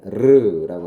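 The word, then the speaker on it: Ρ: 헬라어에 P가 아니라 이제 P라고 읽는 건데 르라고 하는 발음이죠.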